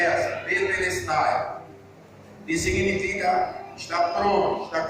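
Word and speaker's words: τετέλεσται: A palavra está consumado na Bíblia, vem de uma palavra grega, cuja pronúncia é tetelestai.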